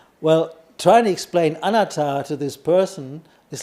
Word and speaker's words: anatta: You know the word anatta, right? Non-self. So the Thais, they pronounce it slightly different. So when I translated it to Luang Por Tui, he went, huh? So I said, anatta. Anatta.